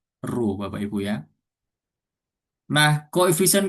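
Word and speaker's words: ρ: ya atau dilambangkan dengan rho seperti huruf P ini bacanya rho Bapak Ibu ya.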